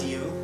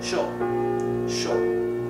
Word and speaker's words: yo: So this will be pronounced sho, okay? Sho in Argentina and in Uruguay, and yo in all the other Spanish-speaking countries, okay?